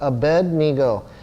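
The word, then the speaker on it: Abednego: he's AED nego and every time I've seen that pronounced there is a space in there so it's Abed Neo uh this is servant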